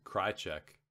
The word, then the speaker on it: Krajicek: this weekend is richard krajicek footnote number 10 pronounced cry check end of footnote number